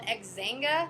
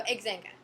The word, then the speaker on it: Xanga: um back then Myspace wasn't really around yet and we didn't have Facebook we had something called xanga I need to pronounced it was x-a-n-g-a that was what everyone